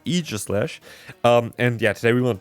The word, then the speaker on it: Aegislash: I always would say Aegislash, but that is apparently not the case. It's Aegislash.